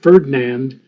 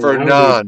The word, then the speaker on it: Fernand: Case in point, Ferdinand, or however it's Fernand. pronounced. Fernand, Fernand. Anand. It's like Fernando without the O.